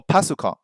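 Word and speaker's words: パソコン: But if you say PC, like the Japanese pronunciation, that it's a little bit easier to use. Or pasukon is what people say right now.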